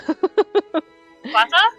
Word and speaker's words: Fata Morgana: After God knows how many episodes, I finally realized I've been mispronouncing it. Morgana. Fata? Yeah, it's Fata. I was listening to that, song that plays at the very beginning, and at the very end, they just say it.